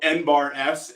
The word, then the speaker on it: NBARS: So NBARS is how you would pronounce N-S as a cattle brand.